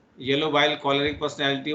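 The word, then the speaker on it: choleric: हाँ, मैं प्रोनाउंसिएशन भूल रही हूँ। सम सी एच क्लोरिड समथिंग, CHOL, मतलब क्लोर कुछ है, मैं अभी बताती हूँ।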